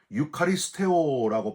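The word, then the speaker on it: εὐχαριστέω: 이 축사라는 말이 바로 헬라어로 유카리스테오라고 발음해요.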